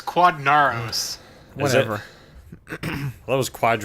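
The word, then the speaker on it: Quadinaros: It's Quadnaros. Whatever. That was I don't know, Quadranero. that's how I would pronounce it.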